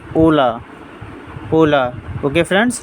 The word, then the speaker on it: hola: E de foreign rules if any word start with the H then it will be silent and I mean h